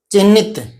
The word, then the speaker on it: चिन्हित: अगर उच्चारण नहीं आ रहा तो देखो, ची, चे के अंदर छोटी ई है, ची, फिर है में क्या है, आधा है तो, और छोटी नी और तय है, ये चिन्हित।